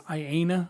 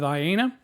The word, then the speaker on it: IANA: assigned to them by i believe it's iana i think is how you pronounce it then after the 1024